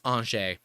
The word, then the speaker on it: Angers: look it up it's it's spelled a-n-g-e-r-s angers but it's anshay um go look it